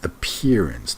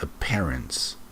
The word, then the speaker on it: appearance: Okay, this is not bad, not only for noun, but the word is appearance, not appearance.